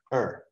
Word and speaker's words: her: has two different pronunciations it's a function word so in sentences it's usually pronounced in fluent speech it's pronounced er just gone so it's